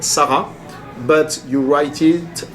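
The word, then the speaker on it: Sarras: village which is called Sarah but you write it s a r r a s and then in Sarah which is 10 km north of K you don't pronounce the S anymore and then when you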